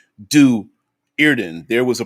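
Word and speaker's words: Do'Urden: the hard t deweyrden since there is a comma in du erden this usually indicates the separation of the word hence do irden there was a pronunciation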